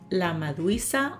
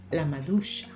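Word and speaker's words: maduixa: try La Medusa is my brain wants to say LA maduisa or LA madrixa but it's la malucia is it is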